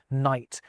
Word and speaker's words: knight: It's when the K and G stop being pronounced at the start of words like knight and gnome.